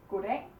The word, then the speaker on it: god dag: Here we say goddag, goddag. Here we say goddag, goddag. Because it's 2 words, so we put the pressure on both words.